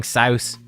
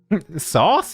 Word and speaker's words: Saus: I'm saying Saus. He actually wants his name to be pronounced Saus. Saus. So there you go. Now you guys know how to pronounce his name. Yep. Sauce?